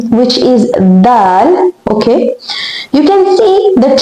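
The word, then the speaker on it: د: Now the pronunciation, the sound of the letter Dal is a D-like sound, but softer than that.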